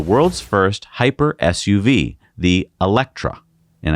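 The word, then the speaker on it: Eletre: first hyper suv the elektra and i know it looks like it's electree but that's how they pronounce it this will be lotus's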